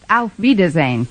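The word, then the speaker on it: auf Wiedersehen: actually the word you have in mind is pronounced Alf vazan oh well I never was much good at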